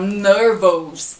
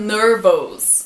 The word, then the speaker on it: nervous: A próxima dica são as palavras que têm O-U-S. Geralmente as pessoas falam nervous. I am nervous. Mas não, O-U-S tem som de us.